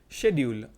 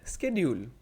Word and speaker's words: schedule: example is the word schedule which can be pronounced schedule or schedule depending on the speaker's dialect or region this